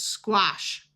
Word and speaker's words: squash: This A will have a broad A sound, and SH says sh, so this is squash.